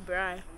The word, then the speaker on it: braai: A braai.